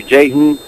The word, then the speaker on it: Jaython: But you can go to Jayton the Mac fan page on Facebook, and it's spelled Jaython.